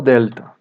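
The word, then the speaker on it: δέλτα: A próxima letra é o delta. Tem o som do nosso D de dado. Algumas pessoas pronunciam dia. Não tem som de dia, como a maioria das pessoas fala, sendo somente pronunciado dessa forma.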